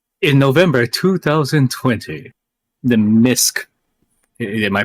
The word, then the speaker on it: MiSK: In November 2020, the MISK, am I pronouncing that foundation? MISK.